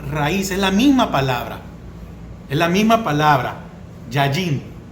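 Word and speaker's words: יין: Porque la raíz de esta palabra donde habla aquí de vino es la palabra hebrea yayin, con Y y acento en la A, yayin.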